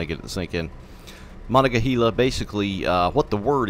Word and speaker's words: Monongahela: try to pronounce this i think it's monica gila monica that one sounds right monica gila that's what it is you got to say